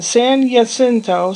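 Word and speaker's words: San Jacinto: saboba casino it's in San yento spelled with a J San jento sento California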